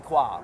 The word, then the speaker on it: Coin: down to qualifier Julie qua what happened today well I guess Julie qua or Julie coin as her name is spelled in Anglo is coin of the